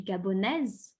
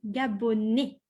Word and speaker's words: gabonais: If you are from Gabon, but you are a boy or a man, je suis gabonais. Gabonais. Okay. The S at the end is silent.